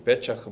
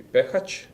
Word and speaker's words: Pechac: Pehac was playing this line, although some people pronounce him Pechach, but I think the point is that in Czech and Czech Republic, CH is pronounced edge, so it should be Pehac, and probably on the last Schneider.